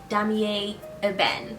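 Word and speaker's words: Damier Ébène: So I needed to know that it's pronounced damier eben, and that's the brown checker pattern. Let me show you. Yeah, so I needed to know that this pattern is called damier eben, and you can't just walk up in there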